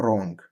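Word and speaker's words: wrong: عندنا يغلف راب خطا رونج عندنا غطاء اللي هو ايه او الغلاف ريبيبر او ريبر طبعا حرف الدبليو عشان بعديه ار لا ينطق طيب نكمل عندنا في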